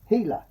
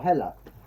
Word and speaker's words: Hela: you see her uh she is called hila or hella uh but hela i think it is pronounced there she is in